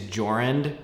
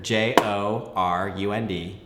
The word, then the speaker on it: Jorund: there but anyway regardless my name is Jorund richter jo are und it'll be down here